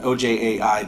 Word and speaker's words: Ojai: It was a study done in California, kind of in Ventura County, and specifically focusing on, I can't even pronounce that, OJAI Valley, whatever that is.